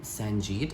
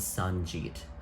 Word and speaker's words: Sanjeet: saying his name right there is a pronunciation guide in the back of the book look at that it was sanjeet phonetically spelled s-a-h-n-j-e-e-t ephesians on the j-e-e-t anyway my favorite character